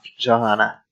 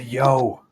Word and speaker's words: Johanna: I'll start by talking with Johanna. It's a yo. Stop. The J is silent. It's yo.